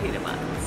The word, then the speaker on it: Pita Mozz: M-O-Z-Z, but we pronounce it Pita Mozz.